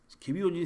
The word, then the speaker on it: 개비온: 이제 영어로 썼을 때 스펠링이 GABION이기 때문에 일반적으로 개비온이라고 읽기도 하고, 또 가비온이라고 읽기도 합니다. 이거는 쭉 늘어나다가 한참 늘어나다가 이제 지금은 정책인 것 같습니다. 이 개비온은. 네, 근데 개비온이 생각보다 유연하고 힘을 잘 받고 좋습니다.